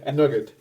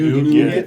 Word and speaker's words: nougat: the center of the salt nut roll is nugget. Yeah, so there you go. Isn't it Nougat.